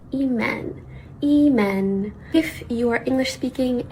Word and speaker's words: Imane: Anyways, the correct pronunciation is in French, eman, and in Arabic, eman.